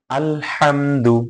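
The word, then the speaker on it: الحمد: নিতে পারেন মিমের পরে মিম সাকিনের পরে যদি দাল আসে তাহলে ইজহার করে স্পষ্ট করে পড়তে হবে আলহামদু অনেকেই আছে আলহামদু হ্যাঁ এরকম গুন্না করা যাবে না দেরি করা যাবে না মিমের পরে আলহামদুলিল্লাহি আলহামদুলিল্লাহি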